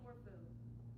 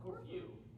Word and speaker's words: Corfu: I've heard somebody say Corfu. Not a thing. What's it supposed to be pronounced? Corfu. No, it's Corfu. Like curfew?